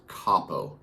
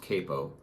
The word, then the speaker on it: capo: correctly this is pronounced capo not capo capo because it is an italian word which means head or